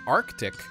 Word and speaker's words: RTIC: The RTIC or pronounced Arctic 20Q hard cooler.